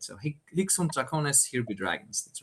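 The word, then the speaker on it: Hic Sunt Dracones: As a German speaker, I think I would pronounce it Hic sunt Draconis. Not sure how like an actual Latin speaker would do it, or maybe an Italian would do it, but that's how I go about it.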